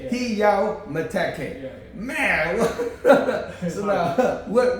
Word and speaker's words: Meteke: Heyaw It's called Heyaw Meteke. Meteke. Yeah. Heyaw Meteke.